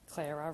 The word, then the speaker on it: Clara: Clara rhymes with Sarah.